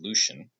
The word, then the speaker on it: Lucian: His studio assistant wrote a biography about him recently, and that's where I learned how to say his name, Lucian.